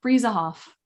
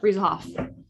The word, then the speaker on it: Bruesehoff: its ass mom of three and i'm gonna pronounce it right because we talked about it jamie frieza off how'd i do breeze off i did it great i'm impressed that i